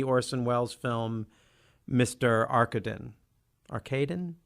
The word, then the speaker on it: Arkadin: welles film mr arkadin arcadine how do you pronounce that arcadin thank you see does my lazy american voice taking out the opportunity to relax around the big ah sound arcade as far as